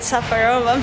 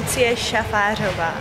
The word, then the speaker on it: Šafářová: say to anyone I I always go with Safara because I know it's too difficult to pronounce it Lu shaara I'm not giving an